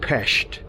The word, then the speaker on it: Pest: the West Bank and PES as native hungarians pronounce it on the east side